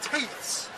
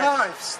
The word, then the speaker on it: tithes: He wants teeths, or T-I-T-H-E, teeths, you know what I mean, like teeths, or I'm not sure what you mean. Tithes, that's it, that's how you pronounce it.